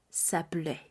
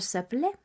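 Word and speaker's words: s'appeler: vamos a decir nuestro nombre utilicemos el verbo saple que es el verbo llamarse una vez más vamos a utilizar el pronombre personal sujeto todos los diferentes pronombres personales sujetos para conjugar nuestro verbo saple este verbo sin conjugar en su forma infinita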